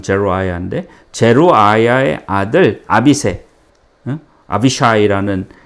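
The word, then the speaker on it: Zeruiah: 이때도 스루야의 아들 제루아야라고 영어 발음은 제루아야인데 제루아야의 아들 아비세, 아비샤이라는 그 아들이 왕께 여짜오되 이 죽은 개 같은 자가 지금 시므이를 얘기하는 거죠.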